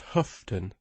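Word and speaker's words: Houghton: neighbor against humanity but when it is written horton then it is different it is for it is always pronounced huffton said miss penegra by us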